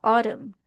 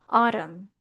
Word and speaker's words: autumn: Ang pronunciation po natin dito is parang ganito. Autum. Autum. New places every autumn.